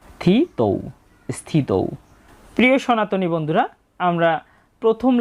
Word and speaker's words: স্থিত: তাই আমরা এখানে সটা অর্ধেক উচ্চারিত হবে। থিত স্থিত।